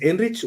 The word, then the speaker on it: Enrich: Con Ceci henrich es enrich o es Enrique así tal cual como como se escribe Así se pronuncia Sí muy bien muy